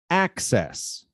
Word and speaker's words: access: and says okay so the difference in these two words though is that the stressed syllable is the second one in the first word and the first one in the second word so let's repeat success